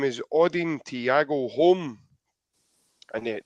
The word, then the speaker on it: Holm: name is Odin Tiago home and that the home is spelled h-o-l-m oding played for valarenga